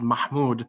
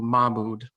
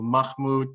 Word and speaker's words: Mahmoud: it in arabic is mahmoud however the h arabic phonetic sound can be difficult for non-arabic speakers so usually i just default to mabud but i've heard everything from muhammad to mahmud to everything i even